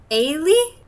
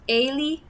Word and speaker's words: Eilidh: Ailey, I think is how they said it was pronounced. Ailey. What's hilarious is they actually make fun of Americans not knowing how to say it in the book. Oh no. We're set up for failure. It's spelled Eilidh. Yeah, I would not get that. There's a D in there.